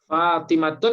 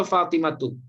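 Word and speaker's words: فاطمةُ: Fatimatun atau Fatimatu? Fatimatu. Fatimatu, nggak boleh tanwin Bu ya.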